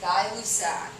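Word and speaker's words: Gay-Lussac: fast dialous sac that's how you say it guy luck pressure is directly proportional to temperature meaning as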